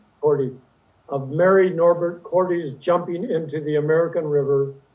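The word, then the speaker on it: Korte: Is that the correct pronunciation for her last name? Cordy.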